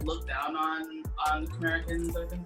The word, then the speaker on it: Khmerican: Like Khmerican, like Puerto Rican.